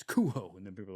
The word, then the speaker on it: Cujo: out about it, but he used to correct people back in the day, which is hilarious to think him just coked up. Yeah. No, it's cuho.